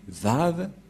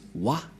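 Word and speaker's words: וה: Et ces termes se prononcent selon eux en W, A, H. C'est pourquoi les gens disent Wa. Mais en fait, ce n'est pas Wa la vraie prononciation, mais Va pour les Juifs. Les Juifs le prononcent Va.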